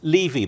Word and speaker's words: Levy: So in Britain, we always used to say Levy, but here you say Levy, don't you?